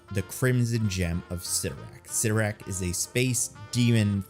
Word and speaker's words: Cyttorak: Is it Cyttorak or is it Cyttorak? First place I found it pronounced was Spider-Man and the Amazing Friends, which was a cartoon from the 80s. And in that, Juggernaut pronounces it Cyttorak.